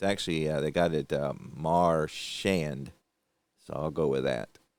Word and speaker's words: Marchand: It's actually, they got it Marchand.